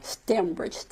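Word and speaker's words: Stembridge: And how are you pronouncing his name? Roger? Stemridge.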